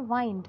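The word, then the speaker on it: wind: तो इसका प्रोनाउंसिएशन है यहाँ पर वाइंड, नॉट विंड.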